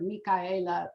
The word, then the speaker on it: Micaela: 2 Pontalba buildings, and I will be using the Spanish pronunciation of her name. Her father was from Spain, so I'm sure she heard Micaela quite frequently when she was, very